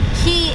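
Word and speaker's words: Cay: Key is spelled C-A-Y, so if you make your way down to the Bahamas, do not call it a K, because it is a key.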